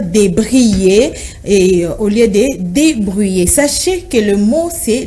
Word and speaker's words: débrouiller: Beaucoup de Congolais disent débrayer. À la place de débrouiller, ils enlèvent le O et le U et pour ne laisser que le I et dire débrayer et au lieu de débrouiller.